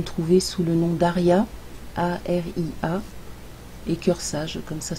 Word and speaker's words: Aria: tu peux me trouver sous le nom d'Aria, A-R-I-A, et Cœur Sage, comme ça se prononce.